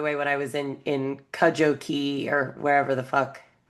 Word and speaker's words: Cudjoe: is it Cujo? Because I was like, you're in Cujo Bay? Ah, because the dog Cujo, you know. Yes, But no, it's Cudjoe. That's how they pronounce it anyway.